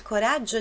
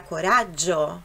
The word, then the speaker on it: coraggio: Na palavra coraggio. Coraggio, são dois Gs, então tem aquela pronúncia um pouquinho mais forte.